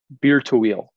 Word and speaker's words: Bir Tawil: Well, my understanding here too is he was not the first to go to Bir Tawil. Have I pronounced it correctly? Tawil? Bir Tawil.